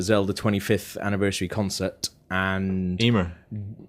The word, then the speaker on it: Emma: And Emma, is it Emma? Yeah. Not Amia. Not Amy or whatever you're saying. That's what she says. Eh, does she she's saying it wrong? She's wrong. Emma. No, no, maybe it is. Yeah, it is. No, it is Emma.